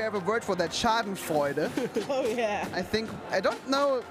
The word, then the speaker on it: Schadenfreude: In Germany, we have a word for that, Schadenfreude.